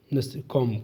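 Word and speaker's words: comb: य पर आर है कम कम क होता ना कम कम कंगी सॉरी सॉरी कॉम लिखा की सीओ एम बी कॉम कॉम कॉम य पर बी साइलेंट कर देना कॉम क्रोज चलो 15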